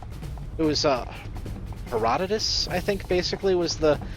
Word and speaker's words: Herodotus: But it basically, if you pronounce it correctly, it was like Herodotus.